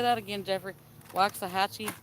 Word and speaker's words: Waxahachie: wax how do you say that again jeffrey waxahachie waxahachie walks a hatchy i could say that